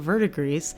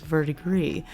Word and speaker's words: verdigris: jelly finish polish now Google tells me this word is pronounced Verdigris but if I hadn't looked it up I would have guessed that it was verdigree so we'll see if